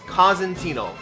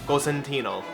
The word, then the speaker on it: Cosentino: It's pronounced Cosentino. If you want to get all Italian, Cosentino. I never had a senior prom in high school.